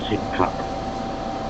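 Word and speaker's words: Sidcup: Yeah, I live uh around 10 miles to the southeast of um central London called a little place called Sip Cup. It's spelled S I D C U P S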